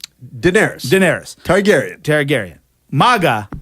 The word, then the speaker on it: Daenerys: a mugger yes true what's your point you pronounce the queen of the Dragons how do you say her name Daenerys Daenerys Targaryen Tara garyun Mogga or melaka look